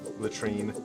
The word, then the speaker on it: latrine: Latrine.